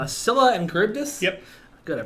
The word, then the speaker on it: Charybdis: Scylla and Charybdis? Yep. Good, I pronounced it right, thank God.